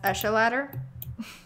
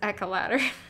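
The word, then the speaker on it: Echeladder: That Ozian says it should be pronounced Esha ladder. No. No. You're, Esh. this is Esha- this is aesthetic. this is one place where I'm actually correct. It is Echo ladder.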